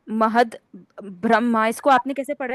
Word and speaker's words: ब्रह्मा: यूज़ होता है और ब्रह्मा वहां पर आधा म और ह पूरा होता है ब्रह्मा वो है भगवान